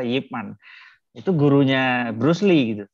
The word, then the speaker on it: Ip Man: sekarang jadi film tuh Ip Man bacanya ternyata Yip Man itu gurunya Bruce Lee